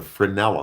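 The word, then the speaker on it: Fresnel: You can see the Frenel or Fresno some people pronounce it the Frenel effect in front of the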